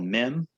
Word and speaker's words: mem: the next one is a mem it's called mem it makes an m sound right i'm not